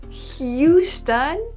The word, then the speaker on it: Houston: it yesterday Houston Houston this is how you pronounce it Houston but it's a o and a and a